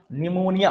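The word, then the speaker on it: pneumonia: निमोनिया P silent है भाई, याद रखिएगा, ठीक है।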